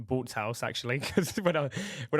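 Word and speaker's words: Bootshaus: um and even that for example I played boots house I played there twice now I played the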